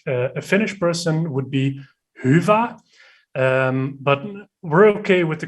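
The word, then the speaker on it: Hyvä: Like we're here to make people happy, merchants, developers, agency owners, and the right pronunciation, if you ask a Finnish person, would be HYVA.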